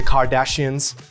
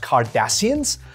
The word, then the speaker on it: Cardassians: futuristic lingo the vulcans the kardashians are you serious it's pronounced cardassians no wonder my friends